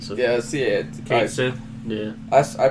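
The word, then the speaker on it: Cait Sith: Well, based off the only way I've seen it spelled, I say Kate. So. Yeah, see it. Kate Sith.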